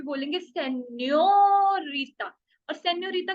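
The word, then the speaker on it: señorita: लेकिन ये वाला जो एन है, ये न्या होगा, न्या। आधा न और या, न्या। क्योंकि इसके ऊपर एक छोटा सा एक्सेंट है एस की शेप में, न्या, न्या। इसलिए हम इसको हमेशा बोलेंगे सेन्योरिटा, नहीं सेन्योरिटा, सेन्यो।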